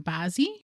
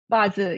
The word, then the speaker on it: Bazi: And I know you do work with um the pronunciation basi. Bazi. Yes.